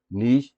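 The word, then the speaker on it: niche: तरफ आप देखेंगे तो यहाँ पे नीश या नीच जो भी आप बोलें, कुछ लोग नीश बोलते हैं, कुछ नीच बोलते हैं, इसमें कोई फ़र्क नहीं कोई ब्रिटिश जो है ना प्रोनाउंसिएशन है, कोई अमेरिकन प्रोनाउंसिएशन है, तो इससे कोई फ़र्क नहीं पड़ता।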